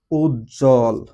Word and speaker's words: উজ্জ্বল: লিখে ফেলতে পারব উজ্জ্বল এখানে আমাদের একটা যুক্ত বর্ণ তার সাথে বফলা আসছে। সুতরাং এখানে বফলার উচ্চারণটা হবে না।